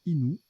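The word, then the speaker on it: innu: cépage blond de Bourgogne inu se prononce inou d'accord d'un peuple amérindien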